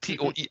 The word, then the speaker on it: Toei: And also by the Toei Company, not Toy Company, but Toei, Toei Company.